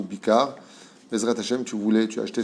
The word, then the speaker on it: Bikhar: Comment on le prononce? B-I-K-H-A-R. Bichar ou Bikar.